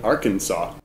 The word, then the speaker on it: Arkansas: The same thing Arkansas. 所以，那因为美国有另外一个州叫做阿肯色州。那阿肯色州它的发音也很奇怪，它这个 SAS 最后的一个 S 是没有声音的，所以它的发音也不是念作 Arkansas，它念成了 Arkansas，不要问我为什么，就是这样，我也就是学起来，所以